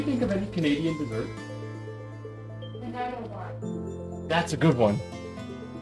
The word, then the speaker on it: Nanaimo: Nanaimo. Here, I'll spell it out.